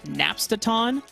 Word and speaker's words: Napstaton: once I once I realize it's napstaton I know I know it's three syllables but like there there's a a slight like ring to it that I can kind of get behind it's like oh yeah napstadon like like Napster or the Napster yeah it's just it's